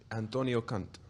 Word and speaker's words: Antonio Conte: So Chris Mendes, for the benefit of everyone, how do we pronounce the name of the new Chelsea manager? Antonio Conte.